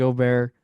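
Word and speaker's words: Åberg: I said Ludwig Ober. Oh my. We'll cut that out. What's the joke here? That you pronounce it's the letter A, Okay. but like you pronounce it O, Okay.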